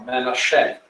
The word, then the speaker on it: Manasseh: This region was given to the tribe of Manasseh, or Manasseh, as it's pronounced in Hebrew.